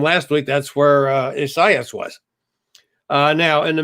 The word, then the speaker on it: Isaias: national hurricane center that the way they want this name pronounced is science uh which i was